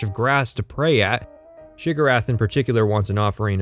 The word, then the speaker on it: Sheogorath: Have you come to be of service to Shigarath? Despite putting that in the video, and pointing out that this is the pronunciation of the name that Morrowind gives you, people still leave embarrassing comments about how I said the name wrong.